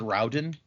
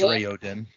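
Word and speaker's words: Raoden: see what it says i in my head i always said rowden but apparently it is rayo den is it right is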